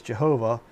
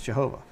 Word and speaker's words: Jehovah: look at it and I see three syllables there jeova uh there's three within the godhead you know but Yahweh is only two which is why I